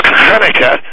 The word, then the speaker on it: Hanukkah: to first of all pronounce it right it's Hanukah and it's all right